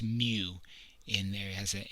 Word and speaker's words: mu: see that it looks like an m it's pronounced mu and there has a m sound in it